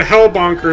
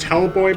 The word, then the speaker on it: Hellbonker: I've heard it pronounced Hellboy before, but it's Hellbonker.